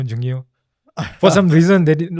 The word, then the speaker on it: Jungio: only place where they correctly pronounced my title. They did not call me by my In name. Mysore? Yeah, my Kannada teachers. So it's Okay. always Jungio, Jungio, Jungio.